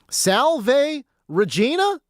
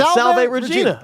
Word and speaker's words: Salve Regina: started his career and double P just told me what the pronunciation is. Salve Regina. Salve. Beautiful. Salv what? No, you had you had Salv Regina.